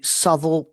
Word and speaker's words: Southwell: Digging up my memory, Southall and Toaster are my two other favourites. I had to actually write the pronunciation down because, of course, they're spelt Southwell and Tocester.